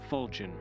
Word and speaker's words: falchion: And it's pronounced fulin.